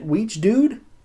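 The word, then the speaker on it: Wiegedood: Weege Dude? It's spelled Wiegeedood.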